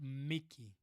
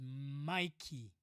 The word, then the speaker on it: Mikey: Mickey Pits asks again, "My name is not Mickey. The pronunciation is Mikey."